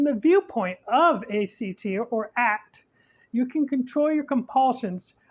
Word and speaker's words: ACT: acceptance and commitment therapy or act pronounced as one word not the individual letters and it just may